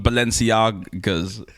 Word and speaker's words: Balenciaga: I want some Balenciagas. Am I pronouncing it right? You are. Okay.